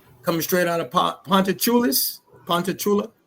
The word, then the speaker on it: Ponchatoula: Pontachula, right? That's how you pronounce.